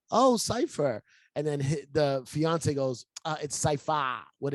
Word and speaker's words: Cipha: Like it's spelled Cipha, pronounced Cipher.